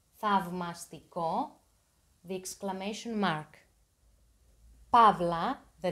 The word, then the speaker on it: θαυμαστικό: Beware of the diphthong av. Alpha and ypsilon are pronounced av. Av, θαυμαστικό.